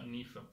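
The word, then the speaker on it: Niamh: Ho studiato l'inglese con Nif, ok, è Niam, in realtà si pronuncia Nif, che è il nome proprio di persona, della mia ragazza madrelingua inglese.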